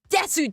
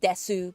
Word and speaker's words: Desu: hello Desu is it it's Des right not Desu well I mean I guess it's Desu in spelling but DES in pronunciation if we're going real Japanese here yeah but uh went